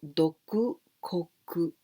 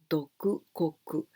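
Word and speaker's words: 独国: Solamente porque esto empieza su pronunciación con doku, dok.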